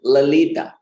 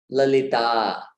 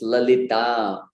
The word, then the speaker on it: Lalita: I often heard Lalita. Lalita. Especially devotees from the Western hemisphere tend to put the emphasis on the wrong syllable, on the short vowel.